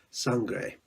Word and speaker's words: Sangre: I just got finished reading Sangre. Now, I'm pronouncing it the Spanish way because that's what I know best.